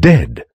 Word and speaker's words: dead: Beware of herd, a dreadful word, that looks like beard and sounds like bird, and dead, it's said like bed, not bead. For goodness sake, don't call it deed.